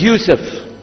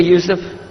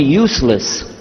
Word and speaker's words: Yusuf: My name is Yusuf. Can you say Yusuf? Let me say Yusuf. Yeah, very good. I wish you'd teach my wife. She keeps mispronouncing it. She calls me useless.